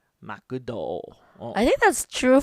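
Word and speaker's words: マクド: Yeah, Yeah, like McDonald's in Japanese, Makudo. Makudo.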